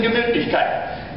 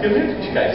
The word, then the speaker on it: Gemütlichkeit: There's one sound that's sort of combined. That's all. It's called the umlaut, the round sound. Now, how do you make a round sound? Well, it's in Gemütlichkeit.